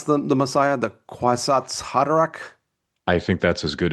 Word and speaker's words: Kwisatz Haderach: And how would you pronounce the Messiah? The Kwisatz Haderach?